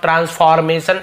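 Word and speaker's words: transformation: ट्रांसफॉर्मेशन ऐसे लिखते हैं हम आर को थोड़ा सा साइलेंट बोलते हैं कभी भी जब डॉक्टर टीचर टीचर डॉक्टर ऐसा नहीं बोलते तो आर ज्यादातर जगह साइलेंट होता तो ट्रांसफॉर्मेशन ऐसे आप बोल दीजिए इसका मतलब परिवर्तन बदलाव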